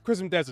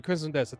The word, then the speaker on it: Crimson Desert: Cris Desert, excuse me. Crimson Desert. Thank you for correcting me.